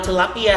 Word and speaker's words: tilapia: Now, tilapia has a new Latin origin, and in our dialect, we pronounce it very similar to the English pronunciation, which is tilapia.